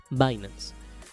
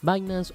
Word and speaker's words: Binance: Vámonos directo a la pantalla principal y bueno, Binance. Binance o Binance, como tú lo quieras pronunciar, no hay ningún problema en las criptos,